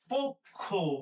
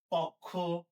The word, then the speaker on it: পক্ষ: তার আগে প এর সাথে যে অ আছে এই অ এর উচ্চারণটা সংগৃত হবে। সংগৃত মানে ও এর মত উচ্চারিত হবে। এর মানে ঘটনা হইতেছে এটা আমরা লিখবো পওকারে প খওকারে খ। পক্ষ।